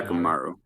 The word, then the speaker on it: Hyakkimaru: And then with how do you pronounce his name? Hyakkimaru? Yeah, Hyakkimaru.